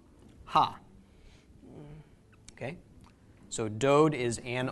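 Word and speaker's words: הַ: Okay, the prefix that is used to indicate the definite article is the letter he, specifically a he with a patach vowel, which is pronounced ha.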